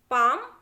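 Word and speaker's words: palm: चलिए देखिए CALF लिखा है, देखिए तो L जो है A के बाद आया है तो उसको हमें प्रोनाउंस नहीं करना है। तो काफ, half, पाम, would, should, could, फोक, योक, इस तरीके से पढ़ना है बच्चों।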